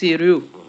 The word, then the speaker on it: sérieux: We have serious in English. It's pronounced sérieux in French. Remember the EUX.